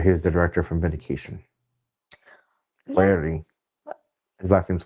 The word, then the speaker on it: Flaherty: Flaherty. Yes. What? His last name's Flaherty. Flatter, flatter.